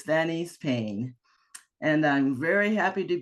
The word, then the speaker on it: Danise Payne: And yes, you did say my name right, Denise Payne. I've heard different kinds of things from Daisy to Denise. But anyway, no, it's Denise Payne.